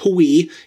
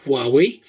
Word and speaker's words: Huawei: It's not pronounced Huawei. It's apparently pronounced Huawei.